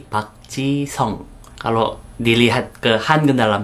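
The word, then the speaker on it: 박지성: Seperti bukan Park Ji-sung tapi Park Ji-song.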